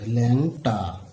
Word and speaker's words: ল্যাংটা: যেমন এই শব্দটি যদি আমরা এভাবে লিখি, উচ্চারণ কিন্তু ঠিক এরকম হবে, ল্যাংটা।